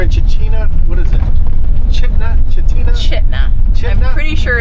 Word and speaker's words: Chitina: Cooper we're in chaa what is it chna chitina chna CH I'm pretty sure it's pronounced chna according to what look at it Hotel chut